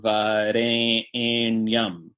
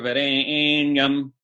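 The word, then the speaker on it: vareṇyam: savitur varenyam eight syllables you need an extra long e there which is permitted by the grammar so that's why you got that's why you'll hear brahmins recite it like this that's a view through varying um with they make sure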